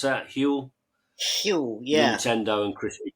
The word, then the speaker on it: Huel: Is that how you pronounce that? Huel?